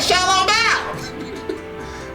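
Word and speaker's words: 小笼包: Xiaolong Bao!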